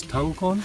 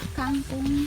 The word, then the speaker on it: kangkong: It says this is tangkon? Kangkong. Tangkon? How do you spell that? K-A-N-G-K-O-N-G. Kangkong. Huh.